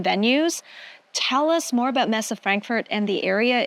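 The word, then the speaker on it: Messe Frankfurt: cyos 2025 will be hosted at am I pronouncing this my German is not that great Messa Frankfurt very good oh thank you well I I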